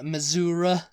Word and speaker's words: Missouri: the list but you Missoura you know saying Missoura that's like an old country way of saying Missouri you know Missour yeah